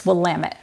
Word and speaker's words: Willamette: right here in the Wamut Valley. By the way, if you're ever confused about how to pronounce the name of the valley, we've got a spiffy little earworm here. It's Wamtt, damn it.